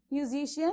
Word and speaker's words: musician: is the first word musician you have to check for the syllables mu z she n so you have four syllables here isn't it so what is the rule saying whenever you have a word suffix ian then you have to stress on the third syllable from the end of the word doesn't it